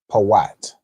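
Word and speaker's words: פוט: So, put in the Hebrew would be Poat.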